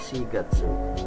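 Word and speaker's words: 四月: 4 sigatsu nah ya pas kita belajar angka kan ada Yong atau SII Nah untuk keterangan waktu terutama bulan yang sedang kita pelajari ini itu pakainya si untuk bulan SH Gatsu ya bulan e bulan April atau bulan 4 selanjutnya bulan Mei atau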